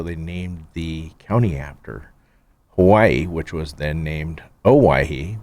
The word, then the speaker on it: Owyhee: Hawaii.